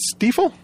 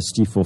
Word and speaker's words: Stiefel: here with todd ah is it stifle it is stifle hey it rhymes with gleeful i'm i'm another person